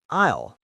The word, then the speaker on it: I'll: We usually use the contraction I'll. It sounds like the word isle or I'll.